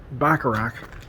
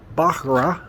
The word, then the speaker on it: Bacharach: all out and the town of Bacharach baccarat I think is how they say it here is up this hill